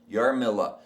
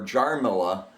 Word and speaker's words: Jarmilla: Yarmilla. It should be spelled Jarmilla. But? And that's the legal way. But the J in Czech is pronounced like a Y. And so that people wouldn't call her Jarmilla, she changed it to